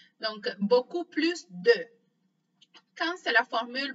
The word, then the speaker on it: plus: On ne prononce pas la lettre S à la fin du mot plus dans une expression négative.